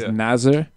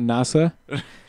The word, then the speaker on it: Nasr: You could tell most of the commentators, they've gotten really careful about pronouncing the R. Yeah. Really pronouncing it as Nasr. Nasr, not Nasa.